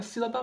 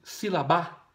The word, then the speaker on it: sílaba: Olha só, você fala sílaba ou sílabá, né? Não. Então, qual que é a mais forte? É o si. Sílaba. Não é sílaba ou sílabá, tá bom?